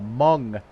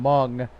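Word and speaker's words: Hmong: actually Southeast Asian uh mung heritage um if you're not familiar with uh with that term mung uh it's spelled h m o n uh they're a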